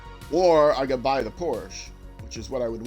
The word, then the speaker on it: Porsche: spend money on the Porsche Porsche sorry say Porsche cuz that's the German pronunciation Porsche close enough it's